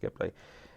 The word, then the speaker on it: Ghibli: But anyway, there's a plane called that, and then it's pronounced the language that it comes from. I can't remember what it was, but it was meant to be pronounced Ghibli, and people think that the name was inspired by that plane.